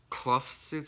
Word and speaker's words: Kloofsuits: So before that, I wanna give a shout out to Clough Suits, I think that's pronounced. K-L-O-O-F Suits.